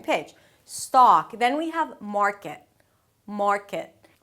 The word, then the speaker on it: market: We begin with an 'mm' sound and then the 'ar' as in 'car'. Technically it's the 'father' vowel, but a bit more rounded because it has the R right after - "maar" "maar". Notice that you're not bringing the tip of the tongue high up too soon so it sounds like 'merkit'.